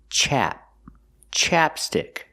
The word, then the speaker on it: ChapStick: first this is ChapStick we use the short a sound like black cat chap chapstick this is ChapStick and